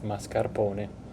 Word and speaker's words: mascarpone: to start with our Mascarpone cheese which is 2 and 1/4 cups of heavy cream and 1 and 1/2 teaspoon of lemon juice uh the r prononciation in Italian it's mascaron once we grab all